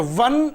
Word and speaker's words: one: 100 rupee note or one eyed person see here what happens word starts with o is a vowel but its pronunciation is W so we will have